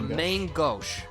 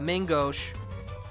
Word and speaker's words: main gauche: A main gauche. Yeah. It's like mango, Yeah. like gauche.